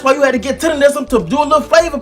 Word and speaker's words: Tendernism: I now know it's actually pronounced Tendernism, so yeah, just bear with me for a little while, but it's Tendernism, not Tenderism.